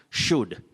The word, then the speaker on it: should: L is silent. You say could, should, would. Don't say could, should, or would. That L should not be pronounced.